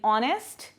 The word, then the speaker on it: honest: Some words have initial consonants which are not pronounced, like H in honest, W in wrap, K in knock.